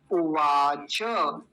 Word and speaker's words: उवाच: त आधा हो गया अगर यह हलंत लगा होता तब हम इसको उवाच कहते लेकिन हलंत लगा हुआ नहीं है अगर हलंत नहीं लगा हुआ तो अब क्या बोलेंगे उवाच उवाच ऐसा बोलेंगे फिर से समझिए हलंत